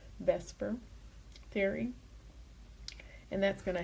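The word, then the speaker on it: VSEPR: And then we're going to use something called the veilent shell electron pair repulsion theory or it's pronounced vesper for short just using the first letters vesper theory and that's going to help us determine the shape.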